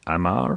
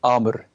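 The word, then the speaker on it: Àmr: will pronounce it correctly is it Amar or Amir yeah Amor Amor there you go I was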